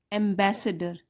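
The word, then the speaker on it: ambassador: वन day emperor Akbar received a magnificent gift from a foreign, इसमें जी silent है, foreign एम्बेसडर, बी में stress है यहाँ पे, एम्बेसडर।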